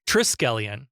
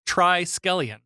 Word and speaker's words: Triskelion: off the Jump that I've been saying it wrong up until watching the episode I thought it was like is it triskellion but it's try scallion oh yeah because of